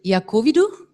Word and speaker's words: Iacovidou: I don't know how to pronounce. I would say Iacovidou? Very French. Very French. And how do you pronounce it? Exactly as you said it.